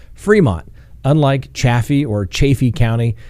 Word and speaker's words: Fremont: in colorado the entire time i know it's pronounced fremont unlike chaffee or chaffee county depending on who